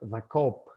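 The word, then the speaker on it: Co-op: de experiencia, se llama The Coop. Se escribe ZA, el, la en inglés y luego la abreviatura de cooperativa, C-O-O-P.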